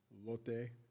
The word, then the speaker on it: Lotte: It actually is pronounced Lotte.